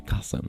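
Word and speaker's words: chasm: this word kasm and you will actually think that that is pronounced like chassam but no it is actually kasm because the person who created English wanted it to be that way but logically it should be chassam and there's nonstop examples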